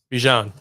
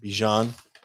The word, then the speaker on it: Bijan: Bijan. Bijan. Like Dijon mustard, but would it be? No, it's not spelled the same. But it's pronounced the same.